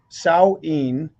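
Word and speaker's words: Samhain: Is pronounced Sao Saoin and it um comes before O Souls Day and comes before All Saints Day.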